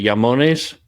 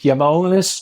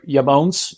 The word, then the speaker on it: IAMONES: our mutual friend Marco vudi taught me the pronunciation how close did I get it yamon you're perfect and um yeah say it yonis or yamon you can that's the right pronunciation okay so